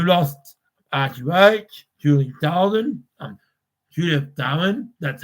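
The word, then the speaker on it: Judith Durham: stuff because we lost Archie Roach, Julie Darwin, Judith Darwin, that's how you say it, and Olivia Newton-John.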